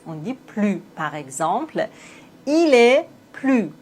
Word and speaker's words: plus: Mais quand l'adjectif commence par envoyer, on doit faire la liaison plus.